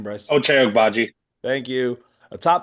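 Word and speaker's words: Ochai Agbaji: Ochai Ogbaji.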